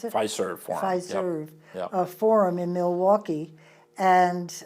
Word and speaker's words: Pfizer: Is that how you pronounce it? Pfizer Forum. Pfizer Yep.